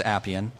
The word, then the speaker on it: Appian: how to pronounce it Appian you know uh for some reason some people have some trouble and say APN but it is Appian like apples uh or applications and